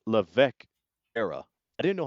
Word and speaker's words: Levesque: in the new era, the Paul Triple H Levesque era. I didn't know how to pronounce his last name.